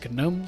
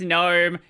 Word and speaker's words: GNOME: Like Lunduk saying it's GNOME, Nico saying no, it's not GNOME, it's GNOME. Like, I don't care about...